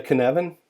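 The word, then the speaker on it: Cynefin: even chaos and anarchy the kanavan even though it's spelled sin ofin it's a Scottish word Dave Snowden came up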